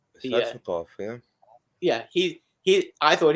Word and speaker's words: Svechnikov: Svechnikov, is that how do you pronounce that guy's name? Svechnikov, yeah.